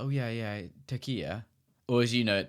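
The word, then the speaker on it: Türkiye: You know, Turkiye is how they would like you to pronounce it, and they've made that very clear, the Turkish people.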